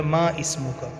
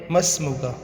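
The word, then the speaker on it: ما اسمك: ہے وہ ہے مسمکا۔ مسمکا جو لکھنے میں ہوتا ہے ما اسمو کا، اور اس کو پڑھتے ہیں مسمو کا، ٹھیک ہے جی۔ ما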